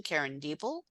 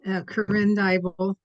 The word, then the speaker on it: Corinne Dybel: Karen Diebel. Yes, it's Corinne Dybel. Yes, I'm sorry. I, that's okay. You pronounced it like it's spelled.